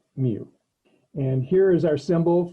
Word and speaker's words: mu: for population parameters and this one kind of looks like a u but we pronounce it mu and here is our